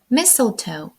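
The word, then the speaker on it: mistletoe: re тобто різдв'яний вінок mel омила у слові missel ми не читаємо літеру T mel hly гостролист думаю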